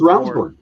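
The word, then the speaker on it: Ravnsborg: I always thought it was Rabbit. It's Ravensburg.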